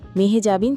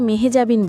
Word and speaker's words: মেহজাবীন: বলেন, সবাই আমাকে মেহজাবিন বলেন, কিন্তু আমার নামের উচ্চারণ কিন্তু মেহেজাবিন নয়। উচ্চারণটা একটু অন্যরকম। এটা হল মেহেজাবি। ন কিন্তু আমার নামে উচ্চারণ হয় না।